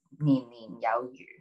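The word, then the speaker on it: 年年有餘: And then, but when you say the word a little bit differently, so if you pronounce it slightly differently, it's the word fish is yu.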